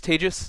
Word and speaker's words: Tejas: My name is Tejas. That's pronounced like contagious, for those of you who have a little bit of trouble with this exotic Indian name.